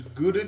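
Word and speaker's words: Gouda: normally for cheese you would want to use guda cheese uh which is actually properly pronounced how cheese um but everyone knows those G so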